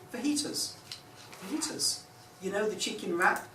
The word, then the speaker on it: fajitas: Fajitas. You know the chicken wrap, spelled F-A-J-I-T-A-S, the Mexican dish, that is pronounced fajitas.